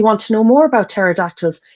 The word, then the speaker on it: pterodactyls: I really want to know more about pterodactyls. Never knew it was started with a silent P.